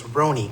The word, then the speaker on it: Roni: Pronouncer is Roni, like Tony with an R. If you could say Tony, you could say Roni.